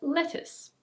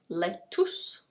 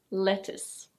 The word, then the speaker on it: lettuce: Now we have: lettuce. This is not "let-oos" or "let-us". In British English this is: lettuce. Lettuce. In American English it's very similar, but the T is a flap T, so it's a "deh" sound.